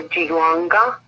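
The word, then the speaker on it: jiaogulan: It's called gynostemia, or jilonga. Its proper pronunciation.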